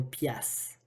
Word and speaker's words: piastre: t la piastre et la piastre était prononcée plutôt qu'on pias donc au québec on